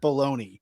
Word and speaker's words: bologna: How is it spelled that way? But it's but you pronounce it baloney.